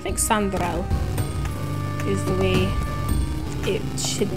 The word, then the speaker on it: Chandrelle: All right, Chandrelle is the way it should be pronounced.